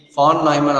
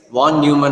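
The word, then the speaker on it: von Neumann: pronounced as f n because it's a German word okay the pronounce ation must be F nman architecture or else you can simply say it as one Newman architecture okay so in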